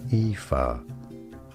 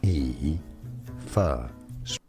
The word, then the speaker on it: Aoife: Aoife. Aoife.